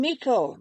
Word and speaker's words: Meikle: I've recently interviewed William Meikle. I'm very glad to find out that I've been pronouncing his name correctly all this time because I've heard alternative pronunciations.